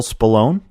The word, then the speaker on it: Spallone: This is episode number 72 with our special guest, Bill Spallone.